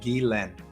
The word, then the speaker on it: Guylaine: And it's pronounced Guylaine, just like the word, the English, or the male name Guy and the male name Len, Guylaine. But yeah, think about some of those things that are important to you.